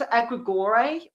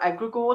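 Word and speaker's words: egregore: It it will be very rare that you will because we've all it's egregor um or egregor depending where you're from is how you pronounce it.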